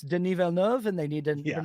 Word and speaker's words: Villeneuve: pronounce Denis Villeneuve, and they need to, Yeah. you know, because too it's Villeneuve or Dennis Yeah.